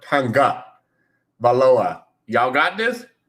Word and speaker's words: Tagovailoa: It's not Tagovailoa. It's not Tagovailoa. It's Tonga, like Tongan, but Tonga Valoa. Y'all got this? Tagovailoa.